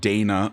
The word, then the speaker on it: Dana: is Kaden Dana and I realized I had been pronouncing his last name wrong I believe it's pronounced Dana upon more research Kaden definitely